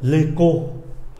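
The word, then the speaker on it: écho: CH, CH này, phát âm là cờ.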